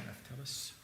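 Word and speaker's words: Raftelis: Is that how you pronounce it? Yeah. Raftellus.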